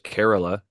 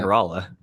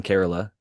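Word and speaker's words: Kerala: We have a listener who lives in Carerala who corrected me cuz I was always calling it Corala, but it's spelled K E R. Yeah. K E R A L A. And breeder Steve even mentioned it and called it uh Corala, which most people do because that's how it if you're an English speaker, he would pronounce it.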